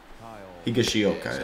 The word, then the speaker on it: Higashioka: Higashioka is how you pronounce it.